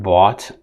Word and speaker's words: bought: words in english like bought past tense of bi sought past and seek thought so past tense of think caught in all of these words that have gh the gh is basically silent the same is true